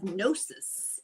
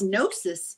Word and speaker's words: Gnosis: If you're new to this, Gnosis is uh spelled g n o s i s and the g is silent.